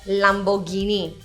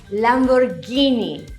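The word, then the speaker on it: Lamborghini: Another Italian car that's commonly mispronounced is the Lam-bor-gi-ni. The correct way to say this is Lam-bor-ghee-nee!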